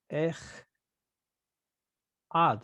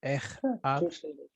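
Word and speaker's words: אֶחָד: Ech ad. So it seems to break the rule because the first syllable looks like it's open and short.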